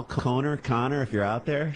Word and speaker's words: Conor: Vancouver Vancouver and then this guy Connor c n n o r I'm gonna tell him how to pronounce his name Connor and Edmonton calls up and again he was so upset that we were mispronouncing the way that his name was correctly spelled listen to this Conor what's happening brother con this is Conor oh hey I thought it was Connor you said Conor no Conor Conor yeah